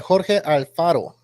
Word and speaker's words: Alfaro: So Jorge Alfaro, apparently, let me go ahead and say it right. Jorge Alfaro. So that's how you say it. It's in Spanish.